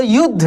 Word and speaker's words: युद्ध: अच्छा बोलते समय ऐसा लग रहा है ना कि यू और ध बोला जा रहा है, लेकिन ऐसा नहीं है। यू उसमें द छुपा हुआ है, जो द आधा है, जिसका उच्चारण काफी तेजी से हो रहा है, ठीक ना।